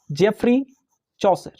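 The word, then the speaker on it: Geoffrey Chaucer: इसके अगले पॉइंट पर ध्यान देंगे, ध्यान रखिएगा, जेफरी चौसर।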